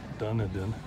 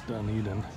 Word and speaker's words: Dunedin: still in Dunedin in the last video I mispronounced it and called it Dunedin it's Dunedin Florida this is the coast